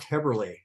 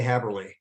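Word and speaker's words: Häberli: It's actually pronounced Haberli. Haberli, excuse me. Yeah. I've been mispronouncing your name all these years. When I left home many years ago, everybody mispronounced it. And I thought, I'm just going to say Haberli because that's the way it's spelled.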